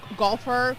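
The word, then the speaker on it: GolfHer: I I I think it's called uh golfer, but it's spelled G O L F H E R.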